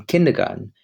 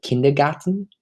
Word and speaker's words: Kindergarten: So Kindergarten, which is the German pronunciation of it, or kindergarten, um, it's